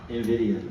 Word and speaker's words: Nvidia: Brandon, I practiced your company name backstage, then I got out of here and I butchered it. Break it down for us one more time. I'm so sorry. Nvidia.